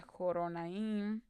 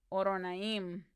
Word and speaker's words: Horonaim: Han alzado tu voz desde Zoar hasta Joronaim. De nuevo sigo pronunciando la H. Horonaim.